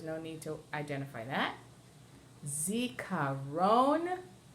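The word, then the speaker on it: זיכרון: Zikaron, and that's the last syllable.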